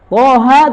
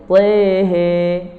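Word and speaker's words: طه: Toha tidak dibaca toha, tapi tehe.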